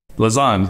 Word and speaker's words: Lausanne: Lausanne, yeah.